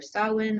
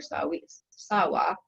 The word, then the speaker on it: Samhain: To celebrate this important occasion, the Celts set aside a day called Samhain, pronounced either Samhain or Sawa.